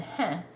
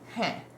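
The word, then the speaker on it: हैं: Now, H-A-I-N, heh, is a word that I have sort of been saying the French way, heh, heh. There's more nasal to this than I'm doing. I think that heh, heh, heh.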